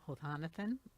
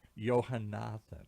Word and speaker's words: Yohanathan: We're laughing because you got close, but that's not really How How do you say your last name, doctor? Johanathan.